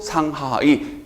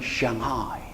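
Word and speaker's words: 上海: 자, 참고적으로 우리끼리는 또 상하이, 원어식 발음은 샹하이.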